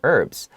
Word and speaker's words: herbs: types of usages for herbs and for herbs even though it starts with an h usually people read it without the h but i also have